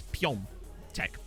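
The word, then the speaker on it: Piątek: So, for example, the A with the hook on it makes that sound is Piontek for whatever reason.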